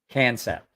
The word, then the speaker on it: Kansept: Concept. They didn't spell it concept, KAHN.